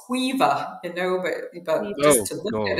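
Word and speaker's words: Caoimhe: Even I get some of them wrong, but there's things like COI, BHE, and it's Quiva, but just to look at it, you're like, what is that?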